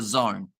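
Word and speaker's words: DAZN: so for the boxing you will need the Zone which is spelled d-a-z-n also we have got the attacking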